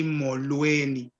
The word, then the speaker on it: Molweni: So if you're greeting one person, you say Molo. However, if it's more than one person, you say Molweni.